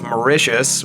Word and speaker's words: Mauritius: From, I just had to be told how to pronounce this, Mauritius, which is it in the Indian Ocean?